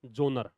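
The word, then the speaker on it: genre: देयर are several विधाओं को बोलते हैं जोनर जी ई एन आर ई एस इसकी स्पेलिंग तो अलग है जी ई एन आर ई लेकिन पढ़ते क्या हैं जोनर देयर आर सेवरल जोनर्स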